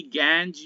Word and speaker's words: gangue: और एक और टर्म आएगी गैंज या गैंगू.